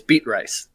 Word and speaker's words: Beatrice: from beating rice it's if you say it properly it's beet rice it is it is yeah beet rice but that's again just